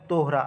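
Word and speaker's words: Torah: এখানে তোরা উচ্চারণ আছে। কিন্তু এটা একচুয়ালি হবে তোহরা।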